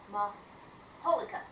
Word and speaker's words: majolica: Earliest, I got it here, it's spelled majolica in Spanish, pronounced maholica. Yes, I figured it's that, that soft JH sound that you see in a lot of languages when it comes to J's.